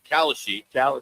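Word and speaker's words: Kalshi: uh despite the massive growth prediction markets like Kasashi, is that how you say it? Just say it out loud. Do you put that on? But Kashi, uh will not be allowed to advertise during the Super Bowl.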